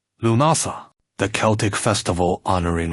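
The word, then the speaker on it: Lughnasadh: Lumnasad pronounced Lumasa, the Celtic festival honoring L, the multiaceted god of light, craftsmanship, and war.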